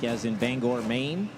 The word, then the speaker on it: Bangor: Mary family came up and told us that it's Bangor, like as in Bangor, Maine.